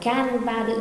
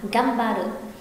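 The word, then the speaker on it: がんばって: không, nên khi này người ta cũng không đọc là gan ba đự mà đọc là gam ba đự.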